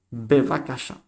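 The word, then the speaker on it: בבקשה: Bevakasha. Bevakasha. Habéis visto aquí tenéis doble la B con peso dentro. B y la V. Bevakasha. Bevakasha. Y aquí tenemos el hey. Bevakasha. Interesante, ¿eh? Bevakasha, por favor. Bevakasha.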